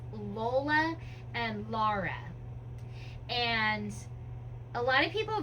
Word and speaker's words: Lara: So, her name is L A R A. It is a Lara. And I know it sounds like a Laura, but it is not Laura.